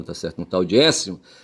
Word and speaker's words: Aécio: Porque Écio se escreve Aécio, tá certo?